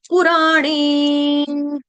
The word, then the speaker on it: पुराण: सा बाण का पुराण पुराण इसको कई बार गलती से ना उ हमारा ह्रस्व है लेकिन धुनधुन में लय लय में हम क्या करते हैं? पूरा पुर्घ कर देते हैं। पु को दीर्घ नहीं करना है। पु आपका छोटा है।